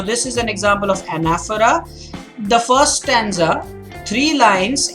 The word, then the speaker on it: anaphora: called anaphora remember I'm saying it this the pronunciation is anaphora and when a few lines end with the